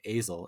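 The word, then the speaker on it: Asle: it's about this man i think you say his name azel it's a-s-l-e so he's an aging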